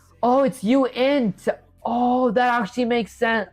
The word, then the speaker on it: uint: You're still pronouncing it wrong. It's not unit. It's uint.